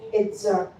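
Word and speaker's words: עֵזֶר: Helper, He used Hebrew word Itzar. The spelling is E-Z-E-R, but when we pronounce it is Itzar.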